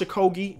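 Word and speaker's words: Okogie: missing this time and then you got Josh a Kogi is how you pronounce the man's name regardless how you pronouncing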